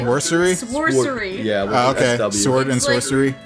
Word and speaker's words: Sworcery: It's called Sword, and I'm pronouncing this correctly. Sworcery. It's like Sworcery? Sworcery.